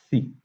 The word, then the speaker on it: xi: Nós lemos e falamos, pronunciamos como xi.